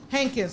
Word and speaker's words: Hankins: Hankins, like Hank and then Kins.